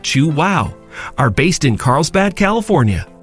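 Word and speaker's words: Chuao: chocolate bars number five chuo chocolatier California known for their fair trade chocolate chuo pronounced chew wow are based in Carlsbad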